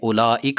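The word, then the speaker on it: أولئك: زبان میں ہوتا ہے۔ جیسے کہ عربی میں اولئک لفظ ہے، اس میں واو جو ہے وہ لکھا تو گیا لیکن اس کا تلفظ نہیں ہوتا، یعنی غیر ملفوظ ہے۔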